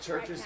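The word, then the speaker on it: CHVRCHES: Isn't it churches spelled with like a She V just or said something? Yeah, Green Day. the U is a V. Yeah. So it's like churches or something It's like some that.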